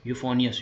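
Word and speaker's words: euphonious: यू एस ठीक है this is the correct spelling same है यूफोनियस यूफोनियस मतलब कि जब भी आए यूफोनियस समझ लेना मेलोडे की टॉफी याद कर लेना।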